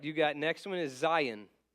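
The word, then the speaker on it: zayin: got next one is Zion Zion rhymes with Ryan so it sounds like Ryan Ryan Zion okay it's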